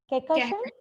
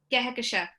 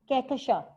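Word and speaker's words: Kehkashan: Kekasha? Kehekasha. Kekasha. Yes, there's an emphasis on the H and the N is silent.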